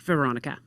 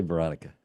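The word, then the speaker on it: Weronika: So, it starts with a W, but it's pronounced Veronica. Just say Veronica.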